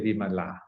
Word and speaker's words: Vimala: same um letters uh for women we say vimallah for men for we say we pronounce it as women so don't be surprised